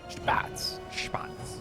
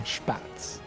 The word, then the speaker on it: Spatz: And How did you figure out that's how you say it? I'm going off Steadfast there. That's how Steadfast says it, and I think it sounds good. Okay. So. That sounds pretty cool.